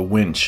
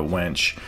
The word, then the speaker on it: winch: It's pronounced a winch, not a wench.